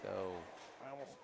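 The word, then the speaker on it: geaux: definite Hall of Famer yeah and a possible goat s we can't use goat too Loosely everybody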